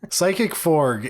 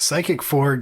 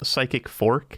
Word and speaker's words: Psychic Frog: I'm glad that you pronounced the G pretty well, because first time you said it was Psychic Fork, and I was like, I don't know what a Psychic Fork is, man.